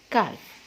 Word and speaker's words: calf: CALF, काफ. Okay, L silent, कैफ.